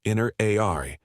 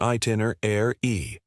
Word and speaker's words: itinerary: Many people say it inner a r. The correct way is itener e.